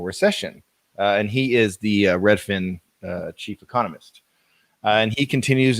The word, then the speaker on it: Redfin: new market report from Redfin. Is that how you say it? Redfin? Yep. Yeah, it's kind of like one fish, two fish, red fish, blue fish, except it's Redfin.